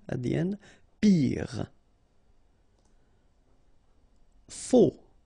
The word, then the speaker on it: faux: Faux. Okay, final X not pronounced, then you get this AU together. O, faux. Jeune.